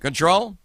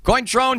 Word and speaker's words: Cointreau: what do you think control might that kind of almost rhymes with Patron but it's not cointron gender vodka the correct